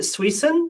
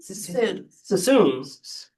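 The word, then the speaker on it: Suisun: Is it Swissen? Cissoon.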